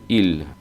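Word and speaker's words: ils: que el Vu y el ellos se pronuncia igual que el el IL IL IL nos faltará el contexto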